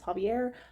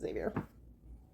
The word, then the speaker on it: Javier: about this book and she did pronounce his name as Javier. I think it's spelled a little bit weird to be Javier, but um, you know, I could totally be wrong. But anyway, so I'm going to have to try and remember to call him Javier from now on. Even though I'm probably still going to accidentally pronounce it Xavier.